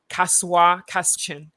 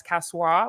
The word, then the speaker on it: Kasoa: of things happening in the city avoid avoid kasoa beginning of the central region but a lot of people advertise casual which is spelled uh k-a-s-o-a I should probably put out